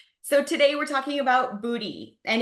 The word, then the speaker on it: Buti: today we're talking about booty and if you guys haven't heard of Booty like me as of a couple weeks ago it's spelled buti and you're in for